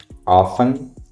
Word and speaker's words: often: international or center center often often often and also the word often often or often has two pronunciation pronunciations. You can also say often or often it's up to you.